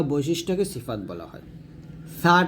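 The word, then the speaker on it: ث: বৈশিষ্ট্যকে সিফাত বলা হয় ছা টাও আমরা জিহ্বার আগা সামনের উপরের দুই দাঁতের আগার সঙ্গে লাগিয়ে ছাটা বাতাস বের করব বাতাস বের করাটা হলো সিফাত বাতাস বের করব পাতলা করে উচ্চারণ করব ছা এরকম ছা উচ্চারণ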